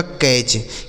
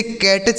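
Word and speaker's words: catch: यानी टी सी एच को हम क्या पढ़ेंगे? च पढ़ेंगे। ठीक है? जैसे सी ए टी सी एच तो सी से हो गया दोस्तों क। ए ए का उच्चारण ए और टी सी एच को हमने क्या बताया? च। यह लिखा गया आपका कैच। क्या लिखा गया है? कैच। ठीक है? इसे कैटच नहीं पढ़ेंगे। कैच पढ़ेंगे। कैच।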